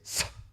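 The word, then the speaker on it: सः: You notice I'm not going ha. It's sa. You're really pronouncing that. You're feeling the force of the prana moving through the teeth here.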